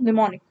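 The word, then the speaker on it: mnemonic: M is silent hair, it is known as निमोनिक।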